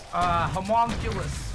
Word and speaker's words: homunculus: I never know how to pronounce them. It's homunculus.